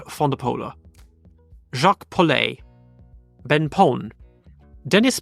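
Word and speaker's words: van de Poele: Antonio ponia Eric fondola a lot of people say vapo but it's actually Eric fondola jacqu po Ben Pon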